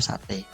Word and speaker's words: satai: Satai, tulisannya satai ya. Kalau kita bacanya tetap sate.